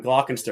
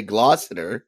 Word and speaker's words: Gloucester: I'm going to say Gloucester because that's the correct way to say it.